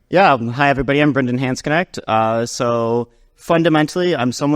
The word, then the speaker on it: Hansknecht: be Brandon H connect which I've been told is the like Americanized pronunciation the real pronunciation is more complicated I'm Italian the English